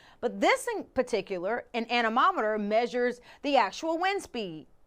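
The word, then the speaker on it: anemometer: Now, it rhymes with thermometer, but it's not a thermometer. The word is animometer.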